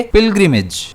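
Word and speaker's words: pilgrimage: इसे हम प्रोनाउंस करेंगे पिल्गिमेज। जिसमें स्ट्रेस जो है वो पी पर रहने वाला है।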